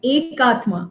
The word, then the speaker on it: Akathma: My name is Akathma. It's like single soul. Akathma. It's pronounced like that. Okay, But okay, unfortunately, it is written as AKA, so a lot of people get confused with it.